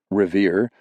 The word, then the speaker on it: Revier: Revier, pronounced revere, loosely translated to fetch, but more accurately meant find it.